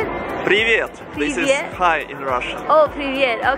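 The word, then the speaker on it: привет: I'm with Ser how they say it privet High in Russia Oh privet okay Do you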